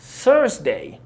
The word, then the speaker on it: Thursday: أوكي يوم الخميس هو يوم تراكي شوية في نطقه علشان الث ساوند والره ساوند. هو بص هتبقى Thursday Thursday.